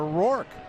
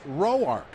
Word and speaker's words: Roark: And through the early part of his career, uh, as you might expect, everybody called him Tanner Ror. And his grandmother didn't like it. She said it's pronounced rowarch.